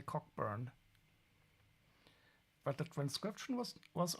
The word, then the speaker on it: Cockburn: Probably pronounced Cobburn. Well, I'm a German and I'm allowed to say cockburn, but the transcription was was okay, I think.